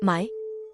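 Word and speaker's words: ไหม: Although mai for questions is pronounced with a rising tone, making it distinct from mai, meaning no or not, which has a low tone.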